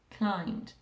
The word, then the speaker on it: climbed: say i climb silent b can i hear the b climb d climbed i climbed the climbing